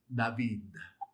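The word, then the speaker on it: דוד: The Hebrew is not David, it's David.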